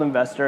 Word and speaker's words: NVSTR: the company's called investor it's spelled NV STR which we love NV STR yep and NV SDR comm is the website which is such an eight thing zero vowels but it sounds like investor looks like investor I